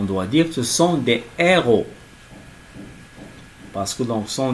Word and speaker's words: héros: Donc ici, le H aspiré. Héros. On ne prononce pas donc le H.